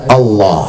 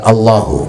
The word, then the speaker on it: Allah: Ayahnya dapat dari gurunya, terus nyambung kepada Rasulullah, bacanya Allah, Allah, Allah. Bukan Allahu, Allahu, bukan Allah, Allah, Allah.